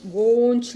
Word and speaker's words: gangue: And the impurity associated with the mineral, we call it as gangue. One American English person told me, ma'am, it should be pronounced as gonch like that.